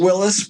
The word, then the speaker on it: Willes: That's the thing for so it's actually Willis. We actually pronounce it Willis, but my ancestors were poor and didn't know how to spell.